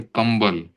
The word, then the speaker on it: कंबल: फिर प वर्ग का अगर कोई अक्षर है प फ ब भ म तो जैसे कंबल तो क के बाद ब आया तो इसका उच्चारण म की तरह होता है।